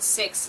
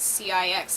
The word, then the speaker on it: CIX: and it's like no it's not six it's cix I'm just like make